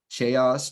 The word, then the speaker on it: chaos: is very likely that their instinct is going to be to pronounce it chase something. Chaos, chose, chase. It will not be chaos because that isn't typically the sound grapheme correspondence that's associated with the CH.